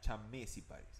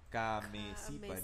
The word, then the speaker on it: Chamaeciparis: Pero la CH, el ch, si no me equivoco, en latín se pronuncia k, como si fuera C nomás. Entonces Ok. sería cameciparis Cameciparis.